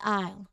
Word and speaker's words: isle: Next is isle. This word is often confusing because of its spelling. It's pronounced exactly like letter I, okay? The S here is silent before the L.